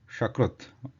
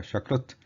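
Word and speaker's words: शकृत्: Shakrit, the last one is the Talavya Sha, Shakrit. If instead of pronouncing Sakrit, if you pronounce Shakrit, the meaning changes.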